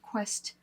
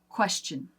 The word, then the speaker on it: question: a C Sound question we kind of put like a t in there question question question so almost a CH too sometimes and you can hear even Americans will vary our pronunciation sometimes depending on who we're around and so sometimes it just comes out question question question that's a CH we jack this word